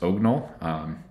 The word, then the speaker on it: OGNL: you take a look they say it's the drunken pronunciation of the last part of orthogonal so i hope i'm saying that right but so ognal is really it's a